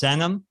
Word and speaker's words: Senum: first names i believe your last name is pronounced cenom like send them to sacramento oh my bad sorry